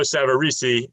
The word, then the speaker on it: Savarese: uh savarisi is it do i say savaris or savarisi well i hang out with the boxer lou savarese and you don't get his name wrong because they'll just hit you in the head so i always it's geo savarisi um correct him next